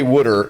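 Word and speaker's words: wooder: So I say Wooter. We actually spell it W-O-O-D-E-R there, just for the record.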